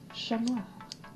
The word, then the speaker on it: Chat Noir: But this is Chat Noir, or in French, Chat Noir. You don't pronounce the T.